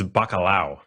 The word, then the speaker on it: bacalao: patties and your Peruvian dish, how do you pronounce it? Yeah, it's bacalao.